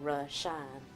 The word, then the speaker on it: Reshounn: The sound and pronunciation, Reshounn, Ra as in sun god, and Shine as in John, which to me was the little light before Jesus.